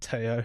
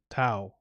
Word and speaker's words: Tao: No, it's not Teo. He told me how to say it. It was Tao.